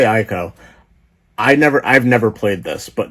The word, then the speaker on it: Ico: And then I have Ico, or Eco, however you want to pronounce it. I'd say Ico. I still would say Ico.